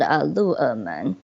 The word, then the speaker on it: Luermen: Okay, after the Green Tunnel, another place to check out would be another temple, which is called Lu'emen, Tianhou Temple. So there's a lot to spell here. Lu'emen is spelled Luermen.